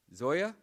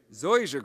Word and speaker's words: zoysia: Zoya? Zoysia grass.